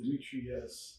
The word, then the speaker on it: Dimitrius: So the name is spelled with all I's. Dimitrius, and is really easy. So it's Dimitrius with all I's.